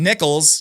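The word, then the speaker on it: Necheles: And now we have Donald Trump's lawyer, Susan Nichols. Yes, it's Nichols, not necklace.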